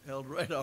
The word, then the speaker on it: El Dorado: program called let the Bible speak out of El Dorado that's the way you pronounce it up there El Dorado Arkansas and it was a very good one